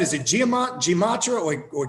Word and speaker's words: Gematria: Is it Gematria or Gematria? I always butcher that. Yeah, like there's several pronunciations, but I call it Gematria.